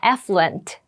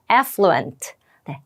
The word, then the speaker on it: affluent: 발음을 한번 해 볼게요 맨 앞에 강세가 있습니다 발음 따라해 보세요 affluent 한번 더 해 볼까요 affluent네 affluent 부유한 이라고 되어